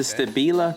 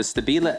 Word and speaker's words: Stabila: not even setting anything this is the stabila that's right that's the correct pronunciation the stabila la 180 laser layout